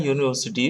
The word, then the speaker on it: university: Because university begins with the letter U, but pronounced as Y sound.